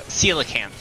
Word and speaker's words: coelacanth: hell words were saying why is it got a soft sea and pronounced like that yeah uh coelacanth uh coelacanths are more